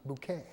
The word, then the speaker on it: Bucket: your name bucket but she says no no it's not bucket it's bouquet but anyway Moses layered